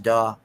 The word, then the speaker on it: DAW: that a is that a uh is it's pronounced daw uh uh for a workstation did you uh